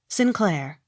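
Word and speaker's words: St Clair: Sinclair.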